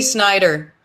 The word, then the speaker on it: Snyder: Yeah, I thought it was like Schneider. No, it's Timothy Snyder.